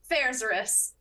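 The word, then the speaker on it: Faerzress: favorite part of the Underdark, which is the Faerzaris.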